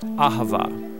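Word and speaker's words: אהבה: languages as it is in ancient Hebrew it's pronounced Ahava it both basically refers to the kind of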